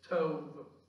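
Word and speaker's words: טוב: Now in your outline this morning, I put in parentheses Hebrew word there pronounced as tov. It's spelled T-O-V, but the V is pronounced as a V.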